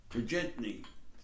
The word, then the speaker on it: Turgenev: One is I lifted off a short story, and I've mentioned this guy before, Ivan Turgenev, the Russian Turgenev. I think that's a better pronunciation.